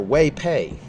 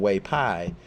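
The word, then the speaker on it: 韋白: And but the actor Wei Pei, and I'm pronouncing it wrong, but the actor Wei Pei, or in Mandarin Wei Pai.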